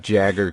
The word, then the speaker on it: Jagger: All right, Mick Jagger coming in.